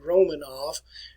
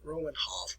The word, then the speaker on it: Romanov: where you pronounce this we in america we say romanov and but if you go to russia today they pronounce it roman hoff ruinov and a founder